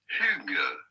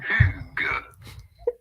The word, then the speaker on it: Hygge: How do you go about pronouncing it? Pretty straightforward. Hygge. Oh. Hygge. Hygge.